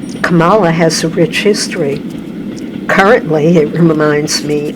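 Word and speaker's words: Kamala: Camala has a rich history. Currently, it reminds me of our vice president. She pronounces her name Camela. Like Pamela.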